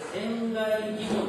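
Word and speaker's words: 仙厓義梵: ですけれどもえこれ線外疑問と読みます線外疑問という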